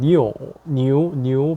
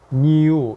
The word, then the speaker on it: NIU: 뭐 우리나라에 들어오고 있는 니오 바이크들도 있고요. 뭐 솔직히 NIU라고 해서 뭐 니우 이렇게 발음을 많이 하는데, 정식 이제 한자로 된 이제 중국 발음은 니오라고 하죠.